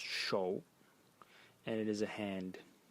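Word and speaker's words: 手: And the semantic element in it is this element over here, pronounced shou, and it is a hand, pointing to the meaning of the character that you have to grab something and so on.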